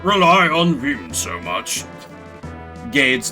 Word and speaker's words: Gades: Should I say Gades or Gades? I'm assuming, like, Gades because my mind went to, like, Hades. So I kind of made it rhyme with that.